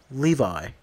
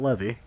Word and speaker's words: Levi: on guys what's the deal his name is pronounced Levi not levy come on guys his name is pronounced like